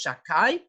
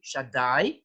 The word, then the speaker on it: Shaddai: God's names, Shah, and we pronounce it as Shakai, although the name is really Shaddai, but we shouldn't pronounce it in that way.